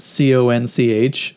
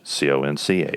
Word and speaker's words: conch: nature what does a conchologist study is it c-o-n-c-h c-o-n-c-h i'm gonna guess shells yes correct shells and